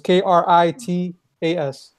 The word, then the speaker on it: Critias: His name was Critias with a K, so it was Kritas. Well, the more you know. Yeah, TIAS at the end. Critias, you can basically say it.